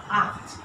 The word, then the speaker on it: acht: So we have a CH after A, so it has to be pronounced from the throat. Acht.